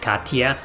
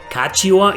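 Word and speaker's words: Catiua: I always thought the U was silent and it was pronounced Katia, but nope, Kachiwa is how the English voice actors say her name in this remaster.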